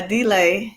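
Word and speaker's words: D'LAI: the story okay so billy and d uh delay is how you say his name they were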